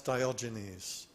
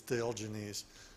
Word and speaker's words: Diogenes: Now I asked Grok, how do you pronounce Diogenes? And apparently the Anglification of the word is Diogenes, but the original Greek was Diogenes, because the G is a G, not a J in the original Greek.